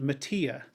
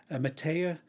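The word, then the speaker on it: Mattea: country singer kathy i think i would have pronounced it mattia matea m-a-double t-e-a she has an absolutely gorgeous voice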